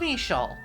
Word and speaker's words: Eeshöl: the next area release for jato garden of eshoal yes that's the official pronunciation confusing name but for this video i'll